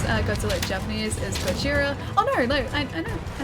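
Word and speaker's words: ゴジラ: Uh, all to pronounce Godzilla in Japanese is Gojira.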